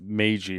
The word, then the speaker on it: Meiji: Probably butchered all those names too. The only one I know for sure is it's Meiji Restoration.